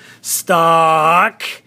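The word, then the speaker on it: stalk: You'll notice the L is silent in there, so we do the S-T-A-L-K, stock, right?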